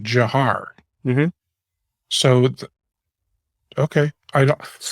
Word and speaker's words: Dzhokhar: So, yes, it looks like, Dzhokhar, something like that, but it's actually Jahar is how he pronounced it.